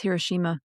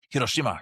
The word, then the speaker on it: Hiroshima: I think it's Hiroshima. Hiroshima. Yeah, that sounds like the Japanese pronunciation.